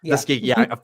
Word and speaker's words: Tuskegee: Tuskegee, you're right, it's Tuskegee. I said it wrong, but which is people